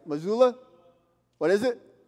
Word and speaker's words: Mazzulla: Mazzulla? What is it? Mazzulla.